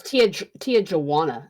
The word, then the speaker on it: Tijuana: It's Tijuana. That's how they Tijuana?